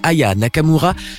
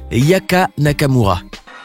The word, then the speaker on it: Aya Nakamura: de la chanteuse et a même mal prononcé son nom en l'appelant Yaka Nakamura. Voici Yaka Nakamura. Malaise. Comme si cela ne suffisait pas, une autre chanteuse, Lio, va également écorcher son nom en l'appelant Ava Nakamura.